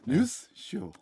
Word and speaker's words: 뉴스쇼: 뉴스쇼. 잘하시네. 뉴스쇼. 저는 이금희 아나운서님이 오셔가지고 알려줬어요. 핀셋 과외를 받았구나. 그렇죠. 전문가를 박선태의 뉴스쇼. 액센트를 앞에다 두고 뉴스쇼.